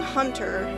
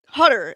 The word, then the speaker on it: Hutter: And the young young hunter Hutter. I'm going to look up this motherfucker's name. I I I swear I'm pronouncing it wrong. Cast of Noeratu 1922. cuz it like it's going to bother me if I Hutter. It's hu t.